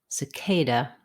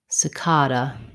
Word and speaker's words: cicada: ways to pronounce cicada the word cicada has second syllable stress the k should be long and have a clear vowel the first letter a says a cicada the second letter a says another correct way to pronounce cicada is with an ah vowel in the stressed syllable it sounds like ca cicada cicada have a word or